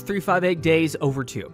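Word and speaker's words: 358/2 Days: to like black metal next up Kingdom Hearts 358 days over two that's how you say it there's technically two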